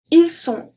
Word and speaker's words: ils sont: And finally, ils sont, elles sont, the T is also silent. So now let's look at the pronunciation like that and the links.